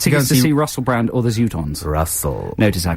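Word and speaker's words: Zutons: Tickets to go and see Russell Brand or the Zootons. Russell. Notice I pronounce it the Zootons. The Zootons, they Which is the correct pronunciation.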